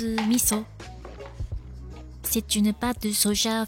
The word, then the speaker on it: miso: voici le missau japonais en France cela se prononce miso mais en réalité cela se prononce misso c'est une pâte de